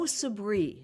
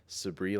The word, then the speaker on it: Sabri: There's Sabri, like as you said it, and there's sabri as well. And it's it's interesting because the dy, you know, the south Asian folks will say sabri.